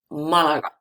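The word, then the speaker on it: Málaga: Malaga ends with a, ends with vowel, the accent, the stress should be in la, Malaga, but it's not there because it's irregular form. The stress is in the first a, Malaga.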